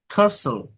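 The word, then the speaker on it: castle: সম সাম সিডনিম সিডনিমডনিম এসটি এল থাকলে টি সাইলেন্ট থাকে বাসল রাসল নাসল কাসল রাসল Rasel ST এল এসটি এল থাকলে টি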